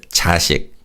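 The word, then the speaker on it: 자식: Let's practice this word chashik.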